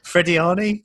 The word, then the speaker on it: Frediani: Is it Frediani by any chance? Very good, but most importantly, call me Freddie.